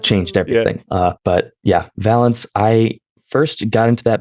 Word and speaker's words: Valance: I used to say Valance, but then a Bounty Hunters comic released where one of the characters makes a joke about his name rhyming with the word balance.